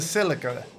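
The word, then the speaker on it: Celica: It's a Silica, by the way. Okay. Silica. I'm pretty sure you mean a Silica, which is a Toyota model.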